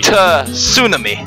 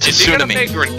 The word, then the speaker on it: Tsunami: Emphasis on the T. Tsunami. I think it's pronounced Tsunami.